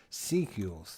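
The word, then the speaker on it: Secules: the name i just couldn't remember how to pronounce it sequels thank you thank you bob so the dolphins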